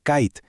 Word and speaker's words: kite: que tiene un superper y es que cambia por completo el sonido de la vocal que tiene justo antes, haciendo que suene más largo. Así, cap se convierte en cape. Kit pasa a ser kite.